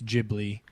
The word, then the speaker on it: Ghibli: their bong in Wikipedia it says it's the hard G it's Ghibli yeah not the soft Italian G well yeah but I